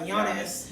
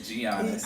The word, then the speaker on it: Giannis: I'm sorry, Giannis. Giannis. I know. I always want to say Giannis because I don't know. That's kind of how it's spelled.